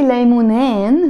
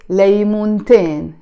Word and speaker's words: ليمونتين: The moment I come to add the in ending to it to make it dual, because I have here two, I don't say ليمونين. No, I have to pronounce the تاء مربوطة, okay? And that's why I say ليمونتين.